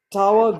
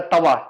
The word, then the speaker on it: tawa: Tawa griddle Should be pan. nice. So it's a No griddle más. pan, but it's called a tawa.